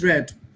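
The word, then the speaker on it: read: তারপরে হচ্ছে যে দ্য বুক ইজ রেড, উচ্চারণটা হবে কি, দ্য বুক ইজ রেড, বই পড়া হয়, ভেরি গুড।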